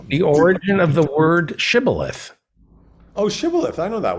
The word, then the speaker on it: shibboleth: they couldn't do it they would say sybileth instead of shibboleth and they killed them